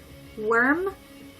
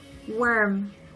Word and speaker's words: worm: And worm is almost like the particle o, but you add the w in front, so wo, wo.